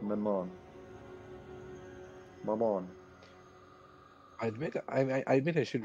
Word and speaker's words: Maman: I would imagine in French it would go like it would accent the second syllable. So like more not Mammon, but more like Maman.